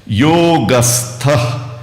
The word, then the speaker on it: योगस्थ: पहली लाइन पहला आधा भाग शब्दों का परिचय योगस्थ योगस्थः नहीं बोलना है।